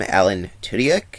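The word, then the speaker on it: Alan Tudyk: pretty good in fact the guy plays him Alan tudak is how you say the name would eventually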